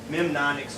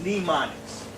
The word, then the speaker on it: mnemonics: Sometimes people will try to pronounce it mnemonics or something like that, but it's mnemonics.